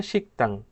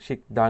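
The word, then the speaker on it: 식당: এরপর হচ্ছে শিকতাং, উচ্চারণটা হবে শিকতাং, শিকদাং হবে না, শিকতাং।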